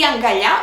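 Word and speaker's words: αγκαλιά: It's a feminine noun with a that has an accent at the last syllable, and the accent does not change through the whole changes of the noun.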